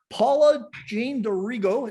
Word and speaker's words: Paula-Jean D'Arrigo: So today I have Paula-Jean D'Arrigo. Did I pronounce that right?